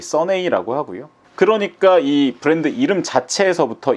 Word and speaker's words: SUNNEI: 선에 요게 써니라는 영어 단어를 이탈리아식 발음이나 철자로 장난친 것이라고 합니다. 이들이 얘기하기를 우리가 상상한 이탈리아 있는 영어 써니를 쓰면 이렇게 되지 않을까? 어라는 그런 생각에서 시작된게 바로이 선네이라고 하고요.